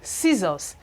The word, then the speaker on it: scissors: It says that if C should come after S, that is S before C, it sounds this way, science, that is, the C is not going to be pronounced.